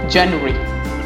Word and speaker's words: January: January, no. The correct pronunciation is January.